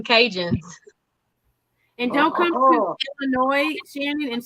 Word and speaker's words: Illinois: Yeah. That's a silent. See, they're both from here. Don't say this. Yeah, there's no S. It's S silent. is silent. It's just I was like, shit, there's an S on there.